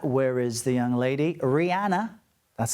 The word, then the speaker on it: Rihanna: Rihanna. That's how she pronounces her name.